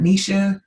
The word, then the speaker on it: Ningxia: Ningxia Red.